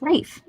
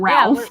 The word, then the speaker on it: Ralph: fines jake that's right his name is rafe not ralph what do you think